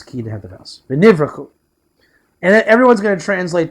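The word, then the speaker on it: ונברכו: V'nivrachu.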